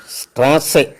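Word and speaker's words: Straße: എന്നുള്ളതിന് സെഡ് ഇ എൻ സെൻ എന്നാണ് പറയുന്നത് എക്സെറ്റിന്റെ ഉച്ചാരണം സ്ട്രാസെ എന്നൊരു വാക്കുണ്ട് എസ് ടി ആർ എച്ച് സെറ്റ് ഇ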